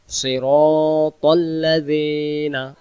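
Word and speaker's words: صراط الذين: ইহদিনাস সিরাতাল মুস্তাকিম তারপরে সিরাতাল্লাজিনা সিরাতাল্লাজিনা এই জায়গায় এই র অক্ষরটাকে আমরা টান দিব সিরাতাল্লাজিনা তাল্লাজিনা যেন না হয় আর এখানে টান দিব সিরাতাল্লাজিনা আনআমতা আলাইহিম আমরা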